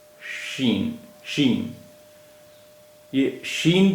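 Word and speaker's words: شین: तीन बिंदियां होती है शीन इसका उच्चारण हिंदी के श जैसा होता है शीन शीन येय शीन भी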